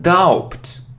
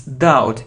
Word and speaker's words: doubt: It isn't doubt, it isn't doubt, it's doubt, it's like that.